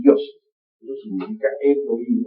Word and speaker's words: Elohim: Eso significa Elohim, o mejor dijéramos Elohim, porque la H se pronuncia como J.